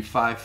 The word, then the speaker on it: fife: Then how the supposed pronunciation they want you to use now is Fowler, Tree, Fife, Niner, all right?